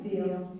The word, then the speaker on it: Veo: We just have Sadie Downs, Vio or Veo, and is it Veo? Vio. Vio. I've heard it pronounced Vio.